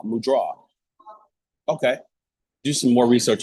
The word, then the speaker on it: mudra: It was, incidentally, every time I saw the word, I would say mudra. And then I heard someone say mudra. And I was like, okay, like mu and draw, mudra.